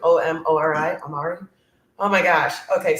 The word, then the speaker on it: Omori: So my first really bad, don't waste your time is, I think you pronounce it Omori, O-M-O-R-I, Omori.